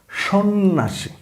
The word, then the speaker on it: সন্ন্যাসী: একইভাবে সন্ন্যাসী এই শব্দও কিন্তু জফলা কোন কাজ করে নাই। আপনি যদি দেখেন যেমন স নয়ন আকার সন্না স দীর্ঘিকাশী সন্ন্যাসী তাহলে জফলার দরকার ছিল কি?